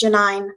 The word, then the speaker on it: Janine: Rhymes with wine. Thank you. It's Janine. I knew it was.